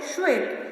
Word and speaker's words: श्वेत: इसको क्या प्रोनाउंस करेंगे? श्वेत। तो चलिए मेरे साथ प्रोनाउंस करिए, श्वेत। खेत नहीं है, ये क्या है? श्वेत।